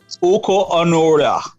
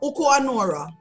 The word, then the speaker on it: Oku Onuora: Could I have the proper pronunciation of his name? Courtney? No. I get Oku Onuora. Oku Onuora. No, Oku Onuora.